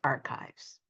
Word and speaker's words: archives: I know you see the ch there, but it's we pronounce it as archives.